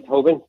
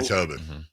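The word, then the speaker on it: Toppin: They let go of Ollie Tobin. Heck of a player. Oh, I love Ollie Tobin.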